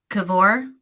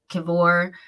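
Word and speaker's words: Kiwior: Would you guys tell me it was Kiwoir? Because the W is a V in Polish.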